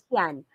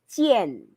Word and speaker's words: 见: Our letter A is in between I and N. Ano nga dapat ang pronunciation or sound ng A doon? It's E. So that is not tian. So that is tien.